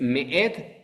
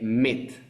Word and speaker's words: Me'et: Pero mucha gente no sabe que el Aleph también se pronuncia. Por este pequeño error de no saber que el Aleph se pronuncia, mucha gente dice Met.